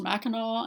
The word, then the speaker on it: Mackinac: by minikin Simpson if anyone knows why it's pronounced Mackinac and not mechanic please tell me because I've